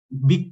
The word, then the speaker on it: Vic: di University of Vic, Vic bacanya ya kalau versi Spanyolnya, bahasa Spanyol untuk kampus ini Universitat de Vic.